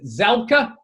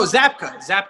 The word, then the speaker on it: Zabka: How do you pronounce Williams' last name? Zabka? No, Zabka.